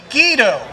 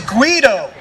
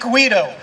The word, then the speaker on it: Guido: and I got older we figured out that the correct pronunciation you know Italian is Guido right everyone should know